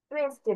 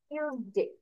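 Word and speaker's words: Tuesday: টুয়েসডে বলি, but actual pronunciation হবে টিউজডে, টিউজডে।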